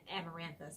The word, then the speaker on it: amaranthus: green thumb and sorry I can't pronounce amaranthus I believe is how you pronounce that but they had several of